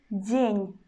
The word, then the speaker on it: день: You see that in the end of this word, we pronounce already consonant N in the soft way. We pronounce Ny, Ny. It is just because after consonant, we've got soft sign, which makes consonant before sound soft.